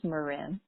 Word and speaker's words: Moran: many people don't know my last name is Moran which kind of rhymes with Corinne so it's an easy